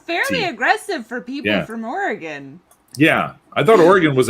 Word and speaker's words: Oregon: it's it's not oregon it's oregon like would you like me to kill you with a knife or a gun yeah it's a very